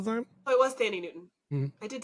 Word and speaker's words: Thandie Newton: Oh, it was Thandie Newton.